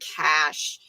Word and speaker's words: Cache: The new camper is called um I keep saying I don't know if they pronounce it cash or cashache. I use it interchangeably. When I was in Alaska, most people were saying cash.